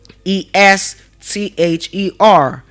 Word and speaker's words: Esther: It is spelled as E S T H E R E S T H E R.